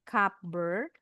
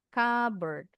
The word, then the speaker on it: cupboard: Bacanya bukan cup bird. D-nya eh D-nya P-nya enggak bunyi nih. Cberd. Cberd.